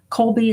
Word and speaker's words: Kolbe: Colby is spelled Kolbe.